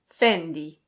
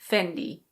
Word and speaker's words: Fendi: Here we have another Italian label and in Italian it's pronounced Fendi. Fendi. In English it's very similar. We say Fendi.